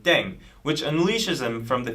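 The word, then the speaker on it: 땡: with language now yeah the pronunciation of deng is similar to thang which is the slang of thing in english last but not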